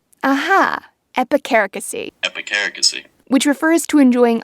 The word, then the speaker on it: epicaricacy: Epicaricacy. Aha, epicaricacy.